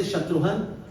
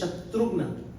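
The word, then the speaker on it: शत्रुघ्न: Shatrugna, some people say Shatruhan. Shatruhan is, the correct pronunciation is Shatrugna.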